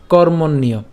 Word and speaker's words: কর্মণ্য: এরপর কর্মণ্য, একটু খেয়াল করুন এই যে এখানে জফলা আছে, জফলার উচ্চারণটা আমাদের ইয় হয়। তাহলে উচ্চারণটা যদি আমরা করতে যাই, আর এখানে যে রেফ আছে, রেফটা রয়ের মতো উচ্চারণ হবে, র হসন্ত আকারে উচ্চারিত হবে। তাহলে কর মন এবং হচ্ছে ইয়। কেন ইয়? ওই যে জফলা আছে বললাম। তাহলে কর মন ইয়, আমরা এটা একসাথে উচ্চারণ করব কর্মণ্য, ঠিক আছে, কর্মণ্য।